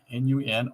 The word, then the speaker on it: Nun: Adding the letter N from non, N-U-N, or N-N-U, pronounced nun, meaning fish, confirms the Anki association